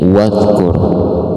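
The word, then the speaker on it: وَاذْكُرْ: Ini bukan zai tapi ini dal. Huruf dal ada titik di atas itu jadi jazal. Jadi bacanya wad, nggak boleh dikolkolah kan, nggak boleh wad, nggak boleh, tapi wad dikit aja.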